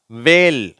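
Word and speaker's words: whale: வருது அதை பார்க்கலாம் சரியா வேல் இங்க எச் சைலெண்ட் ஆயிடுச்சு வேல் வாட் வென் வித்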